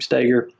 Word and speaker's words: Stoeger: Some people say Ben Stoeger, but he pronounces his name Steger.